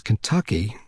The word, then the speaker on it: Kentucky: there for there and pronounce kentucky as it was spelled and not as sandy now did as though the first three letters were k-i-n i learned a lot